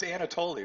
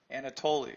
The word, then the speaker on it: Anatoli: Anatoli, right? Anatoli. Second to last syllable accented in most Latin languages.